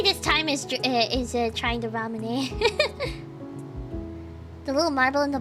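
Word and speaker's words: ラムネ: Yeah, it's pronounced ramune, right? I'm pretty sure.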